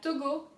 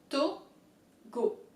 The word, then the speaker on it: Togo: The O's in French are pronounced slightly different, but it's still roughly speaking similar. So let's go ahead. To-go. Oh. It's really oh. Like you're surprised.